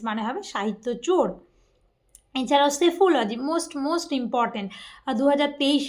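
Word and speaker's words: psephology: এছাড়াও সেফোলজি most most important. 2023 এ মনে হয় এই সেফোলজি রিলেটেড কিছু একটা এসেছিল। আর এখন তো যেহেতু ভোটের বাজার চলছে আরো ইম্পর্টেন্ট হয়ে যাচ্ছে। সেফোলজি মানে কি?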